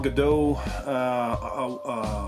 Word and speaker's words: Gadot: I say Gadot because in Canada DOT is, the T is silent, so I know a lot of people say Gal Gadot, but we say Gal Gadot up here.